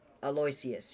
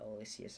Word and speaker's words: Aloysius: Pronounced in such a way. Aloysius, yeah. Okay, I'm just gonna put him in D tier because I've never seen a good Aloysius ever.